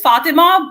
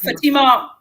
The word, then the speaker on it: Fatima: It is Fatima, but Fatima, is fine.